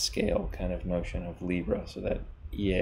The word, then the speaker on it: Leabra: kind of motion of Libra so that yeah is supposed to be pronounced like a Libra and like the astrological sign of the balance scales and who knows anything